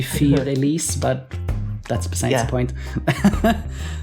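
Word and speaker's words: Für Elise: Side note, but I think it's funny the way you pronounce it, Fur Elise, because you have a cat in the video. It's supposed to be Fear Elise, but that's besides the point.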